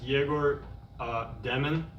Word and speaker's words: Egor Demin: For Egor, I just want to first ask, how would you like us to pronounce, your full name? It's Egor Demin.